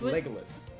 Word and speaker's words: Legolas: you were switching to oh into a it's Legolas that's how you pronounce it Legolas 2031 let's see you know